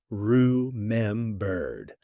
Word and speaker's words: remembered: In fast American speech, remembered often gets compressed. The middle syllables blur together. RM bird. Notice how the e in the first syllable almost disappears into a schwah.